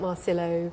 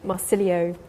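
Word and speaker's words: Marsilio: you could tell everyone a little bit about marcelo marcilio i should say his name this is angela's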